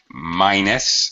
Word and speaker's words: minus: = to 1 okay minus it's a long I all right 4 minus